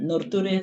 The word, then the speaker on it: nurture: This ending always sounds like sure, okay? So, nature, nurture, and culture. Never ture.